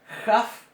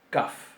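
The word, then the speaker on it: כ: Entonces, sin puntito va a sonar jaf y con puntito va a sonar kaf.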